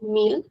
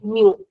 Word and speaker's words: mil: So this m i l in European Portuguese we'll call it meal and in Brazilian we'll call it mu since we do not pronounce the l at.